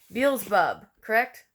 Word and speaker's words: Beelzebub: names is quite challenging Beelzebub correct sleep peels Beelzebub Beelzebub just think like Jennifer Beals and Wolverine saying bub right neelzebub Beelzebub in Christian